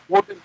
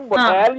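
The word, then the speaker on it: model: हो रहा है, वो हम्म, मिसप्रोनाउंस, तो मेजर मिसप्रोनाउंसिएशन का पता है तुझे, चल मैंने आपको बताया कि वो दो वर्ड देखो, मॉडल। अब मॉडल, हाँ मॉडल जो वर्ड है, ये हाँ, मोडेल या मोडाल चल मोडाल, रहा है, क्यों चल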